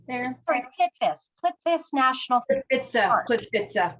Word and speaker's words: Plitvice: fauna of, pardon me, Coral, how do we pronounce that? Which one are you looking at there? Sorry, Plitvice National Park. Plitvice.